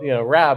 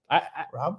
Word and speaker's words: Raab: We call it the Rob and Saab show because like people call Raab. It's like it's Rob like the car. I always have to say it's Rob like the Saab.